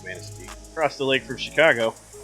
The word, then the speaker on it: Manistee: can pronounce correctly because it's obviously a French word and it is Manistee.